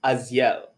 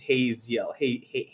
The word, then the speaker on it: Haziel: So I'm getting word that it's pronounced Aziel. The H is silent, Aziel. But I hope I just don't, Aziel. Okay, because like I think when I use it with an American accent, it just becomes Haziel. Somewhere close to Hazel, which is now a girl's name.